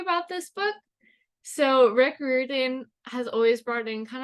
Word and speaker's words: Riordan: Olympians, the Chalice of the Gods by Rick Riordan. That is how they say it is pronounced on the newest Olympian podcast.